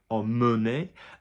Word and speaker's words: emmener: Anything that's MEN in the infinitive is mun, so amener, emmener, and in the short